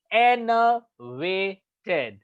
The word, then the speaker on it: enervated: सो इट्स enervated, enervated, enervated, enervated. Enervated. So n जो है उसका प्रोनाउंसिएशन हाई पिच पे होना चाहिए.